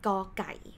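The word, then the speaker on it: ก ไก่: g sound plus o so we pronounce it like go and the word guy is example word so let's take a look up here to call each consonant name you have to have initial consonant sound plus or sound like this one pronounced go plus specific example word ah so that's why we call it gaukai and gai means chicken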